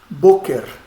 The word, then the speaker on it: Boker: Próxima, Boker. Olha a tonicidade onde está. Bo. Está no bo.